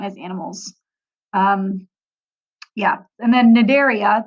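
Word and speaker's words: Cnidaria: animals yeah and then nidaria the C is silent it area is jellyfish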